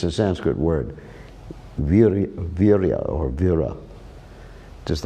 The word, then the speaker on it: Vira: But actually the name, it's a Bengali pronunciation and spelling of the word in Sanskrit vira, which means heroic or a lot of potency, like that vira.